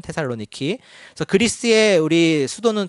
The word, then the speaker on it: 테살로니키: 또 이제 그리스의 지금 현재 있는 제2의 도시죠. 테살로니키라고 발음하죠. 지금은 테살로니키.